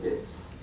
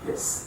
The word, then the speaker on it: His: called the bundle of His. Bundle, kind of funny names, I know. Bundle of His. And even though it's spelled H-I-S, you don't say his, it's hiss, almost like what a snake does.